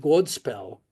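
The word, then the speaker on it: godspel: as the Anglo-Saxon word god spel which means good news god with a long o gives us the word good today and spell means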